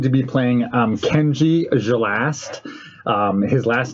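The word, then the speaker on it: Xalast: i am going to be playing um kenji gelast um his last name is spelled x-a-l-a-s-t like that everyone just calls him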